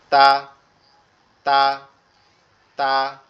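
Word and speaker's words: ت: এই, আচ্ছা একটু বলি যে তাটা কোথা থেকে উচ্চারণ হবে। তাটা হচ্ছে আমাদের জিহ্বার আগা, সামনের দুই দাঁতের গোড়ার সঙ্গে। জিহ্বার আগা সামনের দুই দাঁতের গোড়ার সঙ্গে লাগবে। জিহ্বার আগাটা সামনের দুই দাঁতের গোড়ার সঙ্গে লাগবে, লেগে উচ্চারিত হবে তা তা তা, এরকম ভাবে। তা এরকম ভাবে উচ্চারণ হবে।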